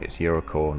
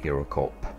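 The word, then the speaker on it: Eurocorps: And for those of you who aren't too sure, you do not pronounce the P in Eurocore. It's Eurocore, not Eurocorp.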